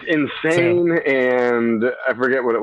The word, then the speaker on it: Sinsaen: saying that right it's not it's insane it's insane okay awesome i'm glad i'm saying it right it's insane and i forget what it was it was